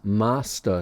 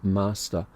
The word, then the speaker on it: Master: is long cleish as master so it's pronounced like a ah it's a long a sound um there's no s on the end so master and uh they've adopted